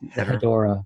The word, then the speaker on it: Hedorah: And I like to pronounce it Hedra. I don't go for the Hadora.